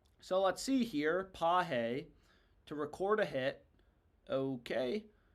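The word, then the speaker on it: Pages: Andy Pahe to get a hit. I learned yesterday that's how you pronounce his last name. So let's see here. Pahe to record a hit.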